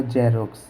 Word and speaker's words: Xerox: और एक होता है, जैसे मैंने लिखा जेरोक्स, XEROX, जीरोक्स, जीरोक्स। तो यहाँ पर X का उच्चारण हमने क्या किया? ज, और यहाँ पर X का उच्चारण हमने क्या किया?